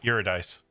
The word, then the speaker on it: Eurydice: very brief contact with her her name was eurodice yeah that's how you pronounce it you're a dice and yeah that's how brief the content was